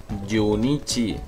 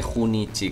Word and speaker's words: Junichi: escribe junichi masuda pero se dice junichi vale como si fuera y yichi vale nada de junichi que he escuchado gente